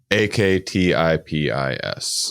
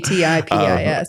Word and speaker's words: Aktipis: Aktipis.